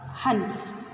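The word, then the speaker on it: हंस: How to pronounce this? Ha in is sa. Hans.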